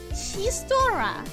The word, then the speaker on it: chistorra: So the 2 options for the food were a solomoa or a chistorra. Sorry for saying it so English Anglo-Saxon the first time, but the X trips me so much.